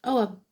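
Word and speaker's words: Ogham: It shows the symbols called Urgam, pronounced Oam or which is an early form of Irish writing placed around concentric circles.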